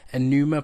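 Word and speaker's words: Pneuma: Then I think I finished last night Enuma Breath of Life. It actually begins with P, but it's Enuma, I think it's pronounced.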